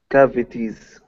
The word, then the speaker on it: cavities: Cavities. Mm-hmm. So here, make this T a D sound. Cavities. Cavities.